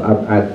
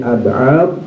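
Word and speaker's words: أبعاض: Tapi kalau sunah ab'ad ya, pakai dot ya, bukan dal ab'ad tapi ab'ad, ini adalah sunah-sunah yang ketika kita tidak melakukannya disunahkan untuk sujud sahwi.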